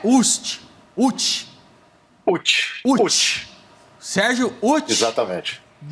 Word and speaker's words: Utsch: Ô Sérgio, seu sobrenome é Ucht.